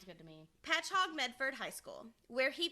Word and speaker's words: Patchogue: and attended, stick with me, you guys, it's Patchogue, Medford. I had to look up a YouTube video to make sure I was pronouncing this correctly. I but butcher names anyway, so yeah. Sounds good to me. Patchogue Medford High School, where he became president of